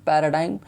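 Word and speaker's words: paradigm: अ new urban development पैराडाइम, इसमें जी silent है, ध्यान रखिएगा।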